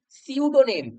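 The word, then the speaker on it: pseudonym: তারপর সিউডোনেম এখানে পিটা সাইলেন্ট।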